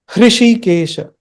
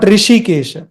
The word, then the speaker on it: Hrishikesha: Om Sarvatrika, Sarvatrika, Hrishikesha, Hrishikesha. Not Rishikesha. Don't read it as Rishikesha. Many people read it as Rishikesh. No. Hrishikesha. Hrishikesha. There is a H in the beginning.